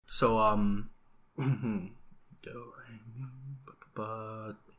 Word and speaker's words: sol: Yeah, it's S-O-L, but no one says the L even when they pronounce it.